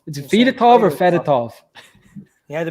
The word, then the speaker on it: Fedotov: So we got Fedotov. Did I say it right, Trav? Yes, thank you.